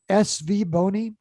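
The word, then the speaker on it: SVBONY: SV Boni is the way you pronounce SV that.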